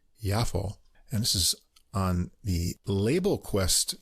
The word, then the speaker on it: Yafo: bit different it's called yafo Blossom that's J AA but I guess it's pronounced yafo and this is on